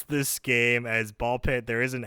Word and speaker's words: BALL x PIT: pronounce this game as Ball Pit. There is an X in the title. So technically it's written as Ball X pit, but the official title's called Ball Pit. You don't pronounce the X.